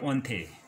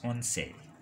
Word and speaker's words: once: Then Spanish Igara Once or Onte. Some people they pronounce Onte, some people they pronounce Once.